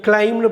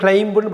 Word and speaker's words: climb: CLIMB கிளைம்னு படிக்கணும், கிளைம்புன்னு படிக்கக்கூடாது.